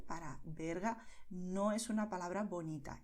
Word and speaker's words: Berga: Pero lo importante es que pronunciarás B aquí, Venezuela. O también Valencia. Barcelona, Berga.